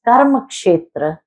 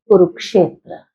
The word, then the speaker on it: karma kshetra: And this is why this is known as the field, that is karma kshetra, which is ultimately mispronounced as Kurukshetra.